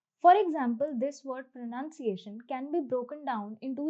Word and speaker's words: pronunciation: Now, pronounce is pronounced as pronounce, but pronunciation is pronounced as pronunciation.